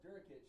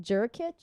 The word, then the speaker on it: Jurkic: That's Durkic. Say hey, Durkic. Jurkic? Dur? That's a J. It's pronounced with a D.